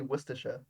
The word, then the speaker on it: Worcestershire: lot more different like how do you say Worchester Shire sauce yeah there you go exactly you just say Worcestershire yeah okay yeah sure yeah no it gets shortened a lot yep but like yeah